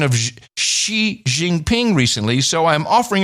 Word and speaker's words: Xi: offering a pronunciation note the X sound or the z sound in China is unvoiced and sounds similar to the English if spoken through a Grimace or wide smile let me try okay